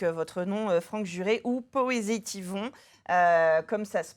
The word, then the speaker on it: Poésitivons: Et de toute façon, on vous suit avec, votre nom, Franck Juré ou Poésétivon, comme ça se prononce, Tout être à fait.